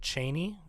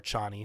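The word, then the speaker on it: Chani: and Chie who it's Frank Herbert pronounced it Cheney is is you know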